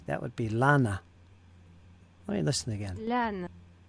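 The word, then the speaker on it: Lannes: I guess it's just lan. Lan. Lan. Marshal Lan. What I have issues with is Marshall's Lan or Lan-A. Lan-A.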